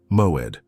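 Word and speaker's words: מועד: The Hebrew word that defines the exact state you are living in is moed. Pronounce it with me, one syllable at a time, moed.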